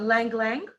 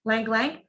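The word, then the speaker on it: ylang-ylang: is rose oil uh lang lang okay it spells with a y y l a and g language y is silent when you say lang lang and cinnamon or cinnamon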